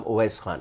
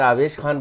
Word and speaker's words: ओवैस खान: उसका दरअसल नाम ओवैस खान है। मुझे अफसोस ये होता है, मैं खुद एक कमेंटेटर हूँ, कि कमेंटेटर भी गलत नाम उसका प्रोनाउंस करते हैं। हर कमेंटेटर की ये जिम्मेदारी है कि वो उस खिलाड़ी का नाम सही प्रोनाउंस करें। तो ओवैस खान अगर आवेश खान बन गया है, जो कहीं से भी सूटेबल नहीं है, पर शायद उनको तो